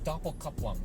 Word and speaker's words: Doppelkupplung: All right, and PDK, that means Porsche Doppelkupplung, if we want to say it correctly, or Gesundheit.